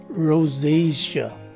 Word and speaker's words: rosacea: is a long o the letter s takes a z sound as in zebra and the first letter